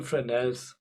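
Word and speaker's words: Fresnel: this one um yeah we call them frels or in in German they say frel but it's spelled with an S but it was um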